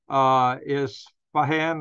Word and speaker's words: Isfahan: It's been said that the missiles hit around Isfahan, I don't know how to pronounce that, I-S-F-A-H-A-N, no, excuse me, I-S-F-A-H-A-N, Isfahan.